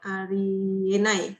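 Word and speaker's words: あり得ない: Kalau ditanyain kenapa bukan Unai juga orang Jepang nggak bisa jawab ya. Memang bacanya Enai gitu aja.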